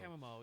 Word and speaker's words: chamomile: Chamomile. Chamomile. Is that what is it? Chamomile. Is that how you say it? Yeah, Chamomile. chamomile.